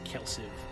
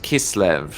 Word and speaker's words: Kislev: Well- hopefully we can repel them at the Kelsiv fortress. That's pronounced Kislev. It is pronounced Kislev.